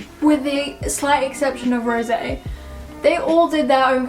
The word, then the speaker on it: Rosé: I would say it's Rosé because that's when it's got the accent on the end.